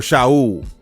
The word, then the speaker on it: Shaul: Vicky and Eddie begot a daughter, Shael or Shaul, as it's pronounced in Espanol.